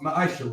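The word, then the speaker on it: מעשר: it means 10th and hebrew and is pronounced maisha right 10 of every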